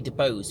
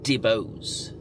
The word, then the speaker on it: DeBose: So Ariana DeBose, and I'm going to say DeBose because the audio system is called Bose, and that's how it's pronounced, Bose, and her name is DeBose. So I'm just going to say DeBose.